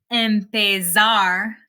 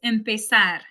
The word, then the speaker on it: empezar: I'm not saying empezar, it's empezar. It's not cruzar, it's cruzar, almorzar, organizar. It actually sounds a lot more like an S in English than a Z.